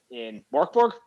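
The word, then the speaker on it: Mörk Borg: asking if it was a D20 system in Morkborg. Am I correct in pronouncing that? Morkborg, yeah.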